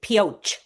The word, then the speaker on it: Pioche: You pronounce it pioche. Pioche. Okay. So, Thank you. even though it comes from French, meaning something like pickaxe, they don't use the French like a brioche kind of thing.